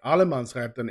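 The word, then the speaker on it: allemansrätten: you're allowed to be there okay so uh Alamance Captain it's all man's right basically that's how you pronounce it and that it basically mean that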